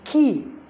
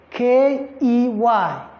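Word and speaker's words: quay: attempt it it's key it has the same pronunciation with k e y key the one you use to open door with you understand so it's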